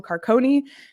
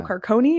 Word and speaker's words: Carcone: popvin and forward Michael carconi who corrected me to my face that it is Michael carcone is how you say his name officially I stand I'm confident in that pronunciation now um so definitely